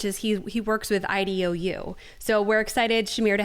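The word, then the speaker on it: IDEO: you say it so it's actually ido um yeah like e-y-e yes uh is a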